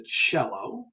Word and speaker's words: cello: church so think of the musical instrument the cello and then capucino has both we have the